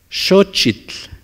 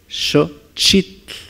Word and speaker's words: Xochitl: No xochitl, es xochitl. Flor. Sí, xo. Xochitl. No, no, no decimos xochitl, es xochitl. Para su mayor comprensión, ustedes pueden ponerle el acento gráfico para que lo puedan pronunciar. Xochitl, la penúltima.